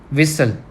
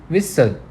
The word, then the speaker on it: whistle: Now next is whistle. In this word we don't pronounce T. हम whistle नहीं बोलते, हम क्या बोलते हैं? whistle.